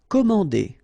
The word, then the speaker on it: commander: Commander. Okay, remember A and N together, so it's nasal, en.